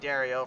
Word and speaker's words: Dario: And again, if you were just tuning in a little earlier on and hearing me say Giroux by accident again, it's actually Dario for the record books.